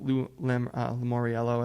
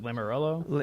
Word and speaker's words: Lamoriello: to bring in a big name, like with Lamoriello at the helm, if I pronounce his name right. I forget. Is it Lamoriello?